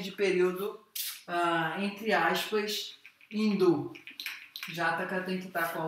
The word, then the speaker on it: Jataka: Então, Jataka, aqui o preto não está funcionando muito bem, mas tudo bem, se escreve J-A-T-A-K-A.